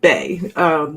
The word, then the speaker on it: Bay: And without further ado, please welcome my honored guest, Miss Bay. Bay. It's actually pronounced Bay, like B-A-Y.